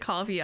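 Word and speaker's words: Ko-fi: fi I always I I know it's supposed to be said like coffee I say Kofi oh I just say Kofi Kofi Kishi Kofi yeah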